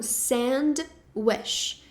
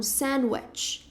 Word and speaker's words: sandwich: Então não tem o som de wesh, que é desejo, né? Então não é um sandwish, é um sandwich.